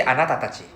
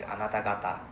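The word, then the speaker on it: あなた: However, we don't say anati. Although we do say anati, but the proper way to say is anata.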